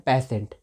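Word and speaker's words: patient: रोग होगी यहां पे देखा ना की जब टी के बाद आई आई ए रहा है जब टी के बाद आई आई हो रहा है तो इसका उच्चारण एस हो रहा है तो इसको हम पढ़ते हैं पेसेंट पेटीएम नहीं पढ़ना है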